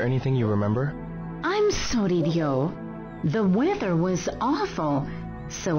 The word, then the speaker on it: Ryo: See, his name is spelt R-Y-O, so it's like Rio. But everyone calls him Dio, which I'm guessing is like the actual pronunciation.